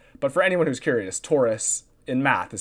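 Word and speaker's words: torus: 3D and we don't actually it's called a Taurus oh okay I feel like in my 3D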